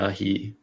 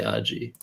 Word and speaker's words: aji: I think there are two ways to pronounce this, Aji Ahi, just to differentiate between AHI, I say Aji.